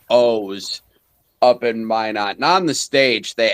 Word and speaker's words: Minot: ever had with Strange Days, we were in Minot at Originals Bars, which they just called O's, up in Minot.